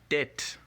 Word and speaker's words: tête: This A here, or this E right here, of course, makes the A sound, not the A sound. So take note when you're pronouncing the word. We have tête.